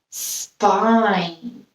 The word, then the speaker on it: spine: p two consonants together and we have our bossy e making the eye say its name so our word is spine very good our next